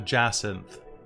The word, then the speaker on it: jacinth: thing in particular there is a fiery orange jazz synth i believe it's how it's pronounced oh what now a jacinth google it real quick and you'll see it's